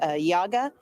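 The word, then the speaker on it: YIAGA: Democratic governance called Yaga well it's also called Yaga but it's spelled y-i-a-g-a but listen to what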